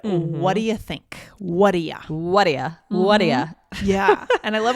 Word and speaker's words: Whaddaya: But yeah, it is connected speech for what do you? What do you? We make it Whaddaya.